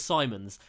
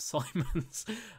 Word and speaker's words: Simons: I think it's Simons. I think someone described it as Diamonds, but Simons.